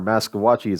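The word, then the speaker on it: Maskwacis: I mean, Hobima or Maskawachis, I think is how you pronounce it now, is a perfect example of a chief system that actually knows what they want.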